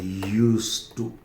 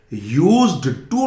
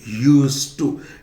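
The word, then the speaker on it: used to: यूज करते हैं, और इसका प्रोनाउंसिएशन है यूज्ड टू। यूज्ड टू नहीं बोलेंगे, यूज्ड टू। ये डी का प्रोनाउंसिएशन नहीं होता, और ये जे भी नहीं होता, यूज्ड टू।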